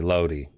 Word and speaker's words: Lodi: His name is spelled Lodi. It's obviously Lodi. I mean, you don't say Loki, right? When you talk about Loki, do you? So I'm gonna say Lodi from here on out.